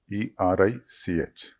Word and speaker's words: Erich: E-R-I-C-H. So German pronunciation is Erich.